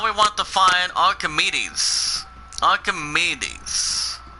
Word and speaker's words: Archimedes: Archimedes. It's pronounced as ARC8.